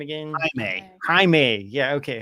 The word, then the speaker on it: Jaime: this is what I keep on calling him Jamie. What's his name again? Jaime. Yeah, okay. Jaime. Spelled Jamie, pronounced Jaime.